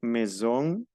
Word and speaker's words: maison: Bueno, tenemos la A y la I, se pronuncia E. Ejemplo, maison, semaine, prochaine.